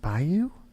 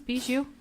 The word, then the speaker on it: Bijou: Isn't it Bayou? No, it's Bijou.